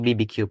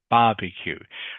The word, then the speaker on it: barbecue: having two barbecue parties barbecue okay in in English you pronounce it barbecue barbeq okay okay not not not not BBQ you in English you say barbecue barbecue okay what where are